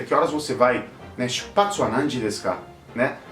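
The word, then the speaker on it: 出発: E nessa palavra ele existe um ajuste de pronúncia que é muito comum nas palavras em japonês, quando você junta kanjis, que ele, em vez de hatsu, ele vira patsu, né?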